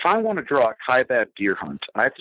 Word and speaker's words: Kaibab: The Kaibab, yeah. Right, it's the Kaibab.